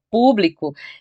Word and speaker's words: público: Repare que lâmpada, matemática, público, todas elas são proparoxítonas, ou seja, a sílaba mais forte é a antepenúltima e todas são acentuadas.